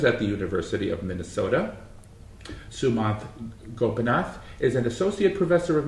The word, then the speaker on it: Sumanth Gopinath: Sumanth Gopinath is an associate professor of music theory and the author of the book, The Ringtone Dialectic. I pronounced that right, Sumanth?